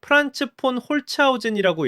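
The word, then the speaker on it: Franz von Holzhausen: 이분 이름 발음이 좀 어려운데 프란츠폰 홀츠오젠이라고 읽어요.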